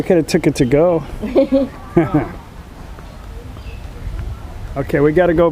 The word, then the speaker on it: เกาะ: and Thai is G it's not call it's not spelled with a K and Tha it's spelled with like a g sound how do you say Island and Tha go we are on the